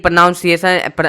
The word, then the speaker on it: pronunciation: देखो pro none, N यू N, none, C ए सन, प्रोनाउंसिएशन, प्रोनाउंसिएशन, ठीक है।